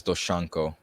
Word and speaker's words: DoShanko: your nickname is i don't want to butcher doshango so how did you get that name yep um so um i know i pronounce it as doshanko okay yeah yeah it has a bit more